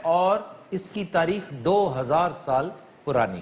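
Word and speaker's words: Seoul: इसके बारे में पहली बात यह है कि मोस्टली मिस प्रोनाउंस होता है हमारे यहां ये। इसे सियोल कहते हैं। ये सियोल नहीं है। ये सोल है।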